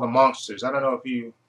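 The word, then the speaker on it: Munsters: know since they were monsters but they call them monsters pronounced m u n s RS said of monsters but they were actually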